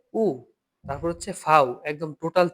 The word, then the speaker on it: U: তে তারপরে আসি উ এখন ইংরেজিতে আমরা কি বলেছিলাম ইউ এটা হচ্ছে উ তারপরে হচ্ছে ফাও একদম